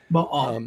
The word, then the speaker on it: Baal: Most of us Americans say Baal, but it's, you know, Baal. Bahal.